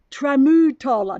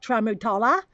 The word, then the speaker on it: Tramutola: to say remote Allah I'm saying it wrong try Mutola not trauma tala the Aussie way trauma Toller is a